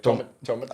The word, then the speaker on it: Tometich: It's Tomatic. It's Croatian. So it's like say it in English.